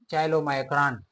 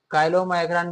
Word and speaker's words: chylomicron: ठीक है, सबसे पहले इधर लिखा है मैंने चाइलोमाइक्रॉन, combination of lipid and protein. इसको काइलोमाइक्रॉन भी कह सकते हैं और चाइलोमाइक्रॉन, दोनों प्रोनाउंसिएशन ठीक है। ठीक है, ज़्यादातर क्या कहते हैं, काइलोमाइक्रॉन कहते हैं।